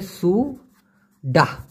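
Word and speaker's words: sudah: already নষ্ট হয়ে গেছে সে কষেত্রে বলবেন সুডা উচ্চারণটা হবে সুডা সুডাসা মানে হচ্ছে অলরেডি নষ্ট হয়ে গেছে সেগালা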